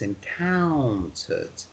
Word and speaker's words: encountered: was encountered you see when you see a word with o u n it's a bit like yes it's a bit like o-w ow it's the owl sounds so it's encountered you see the similarity you see it's the